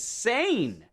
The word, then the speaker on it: Seine: reason on my Google it was on British pronunciation, and that was S-E-N. But now I click right here and go American pronunciation. It says sane.